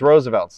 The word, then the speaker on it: RSVLTS: I used to just be like RSVLTS, and then the mascot is Teddy Roosevelt. That's how that's what I tell people. I'll be like, it's Roosevelt's, like Teddy Roosevelt's, but shirts.